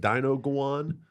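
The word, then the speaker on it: dinuguan: say that word again yeah is this it's pronounced like Dino go on almost sorry all right it is a pork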